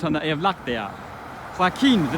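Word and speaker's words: Joaquín: Joaquin, the name Joaquin. It should be, since it ends in an N, it should be accented on the penult, but in truth it's accented on the ultima, so I need an accent on the I of Joaquin.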